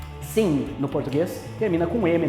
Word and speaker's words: sim: palavras no português que terminam com a letra m mas nós pronunciamos ela com som de n exemplo a palavra sim sim uma português termina com